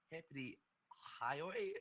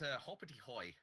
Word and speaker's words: Hoppity Hoy: We got GG with Zedo, Crow, and Sweaty going up against Bread with Mario, Hippity Hoy. Is that how you say it? I believe it's Hoppity Hoy.